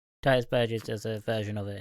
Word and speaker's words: Titus Burgess: thing as well yeah the best song uh Titus verges so you pronounce his name Titus Burgess does a version of it and it's incredible